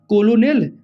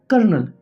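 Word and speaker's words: colonel: कोई कहेगा कोलोनेल, कोलोनल ऐसा होता है, लेकिन इसका प्रोनाउंसिएशन क्या होता है, कर्नल।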